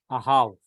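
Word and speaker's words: אהב: So this is Ahav.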